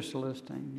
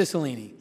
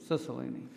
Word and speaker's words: Cicilline: Mr. Celestine, is Thank that you. how you pronounce it? Cicilline. Cicilline, yes. I will concede for the